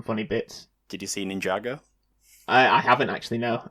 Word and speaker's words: Ninjago: Anno every time you see it written down now you'll read it go oh that says ninja girl no I doesn't I'm say like Lego Ninjago ninjo ninjo pan pending I'm definitely going to say it like that now it's definitely Ninja Go all right there's no